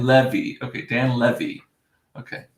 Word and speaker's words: Levy: Okay, Dan Levy. Okay, I'll say it right. Dan Levy. Levy. Like a levy, like to hold the water back.